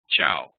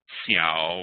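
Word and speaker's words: ciao: chiao in Italian uh c i AO is pronounced Chow it's not seia or kiao it's chiao so that's that's that's the usage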